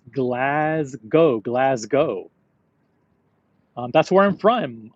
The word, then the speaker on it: Glasgow: Glasgow. Um, that's where I'm from. Most Americans say Glascow. Yeah, that's how it's spelled. I don't say Glas Cow. I say Glasgow or Glasgow.